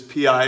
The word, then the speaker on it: pi: It says the ratio known as pi, which is pi, it's pronounced like PIE, was first discovered by the Babylonians nearly 4,000 years ago.